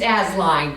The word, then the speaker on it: Asseline: It's Asline, but that's okay. Asline? That's better than some things I've gotten. She'll get it right eventually, won't she, Jerry? Asline. I'm gonna spell it, I'm gonna write it how it's. Asline. Just pretend that second, Asline. that first E isn't there.